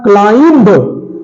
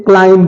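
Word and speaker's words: climb: Silent है। अगला है क्लाइंब, क्लाइंब नहीं बोलते, क्लाइम बोलते हैं।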